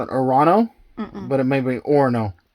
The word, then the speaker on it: Orono: Orono. I know the GPS probably says Orono, but that's not right.